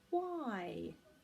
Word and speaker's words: why: the next word is why why are you crying why are you laughing why again a silent H and a Y at the end all of these words